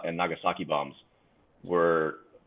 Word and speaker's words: Nagasaki: The old the Fukushima and not Fukushima, Hiroshima and Nagasaki bombs were Thank you for using the proper, Japanese pronunciation.